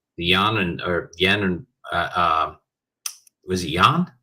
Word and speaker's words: yuan: pacts to use the yen and was it yuan?